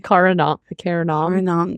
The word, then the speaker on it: Karanam: Not Cameron. Oh my God, help me. Karanam. Thank you.